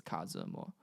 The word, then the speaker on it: Kazimo: I was like, let me go by, and then I basically just switched the spelling to Mandarin syllables like pinyin. So it's Kazimo, so it's Kazimo, and then just got shortened to Kazi.